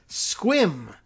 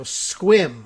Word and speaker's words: Sequim: chiming in tells me it's squim is the actual pronunciation for the town that is spelled Sequim but I guess you